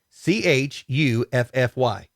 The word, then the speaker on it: chuffy: quit being so chuffy spell it c-h-u-f-f-y oh chuffy like huffy yeah i've never heard